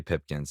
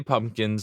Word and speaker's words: Pipkins: be fully behind trey pipkins and i'll say his name properly now i'm not going to say pumpkins i'm not yeah he's